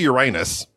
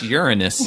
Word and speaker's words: Uranus: Number 2, obviously Uranus. Number 3. It's pronounced Uranus.